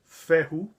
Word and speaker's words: Fehu: Well, the word Fehu is an Indo-European word, and the Germanic pronunciation of it is Fehu.